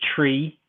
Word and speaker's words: three: industry all know that the number three is pronounced like the irish say tree or that's how it's